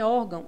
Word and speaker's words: órgão: forte é a penúltima em órgão a sílaba mais forte o ó nós temos também uma